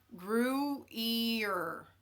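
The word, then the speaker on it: Gruyère: Okay, so Devonna says it's pronounced gruyere.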